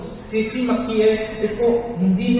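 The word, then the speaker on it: tsetse: इसका एक और जो सीसी मक्खी इसको हिंदी में इंग्लिश में लिखते हैं तो टीसीपीसी बोलते हैं। तो इसमें टीका होता है साइलेंट होता है।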